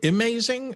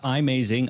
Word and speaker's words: iMazing: Jason what was the software called uh um amazing and what was the best full backup option for the iPad Jason yeah it's pronounced imazing i-m-a-z-i-n-g and you can get the app at